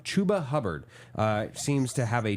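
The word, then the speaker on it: Chuba Hubbard: a onewe relevancy list chubba Chu sorry I always say his name wrong chuba hubard uh seems to have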